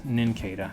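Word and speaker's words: Nincada: you have an in kedah and kata cicadas ninketa there you go that's how you say it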